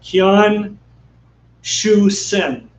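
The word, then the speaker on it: Qian Xuesen: Yeah, Qian Shu Shi, or I'm doing this too fast this time. Qian Shu Sen. Can you spell it?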